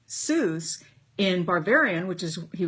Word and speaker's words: Seuss: is that his name soos in barbarian which is he was from barferia which was part of part of germany was actually officially pronounced zoice wouldn't it be would